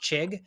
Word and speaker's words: Chig: hard to pronounce so his first name he uh abbreviates it so it's just chig c-h-i-g-chig and his last name is O conk whoa okay so chig